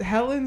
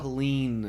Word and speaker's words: Helene: On campus at Helen Zalazo. Helene.